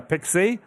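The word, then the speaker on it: PKCE: The web server flow with proof key uh for code exchange, commonly uh pronounced uh Pixie, or the user agent flow.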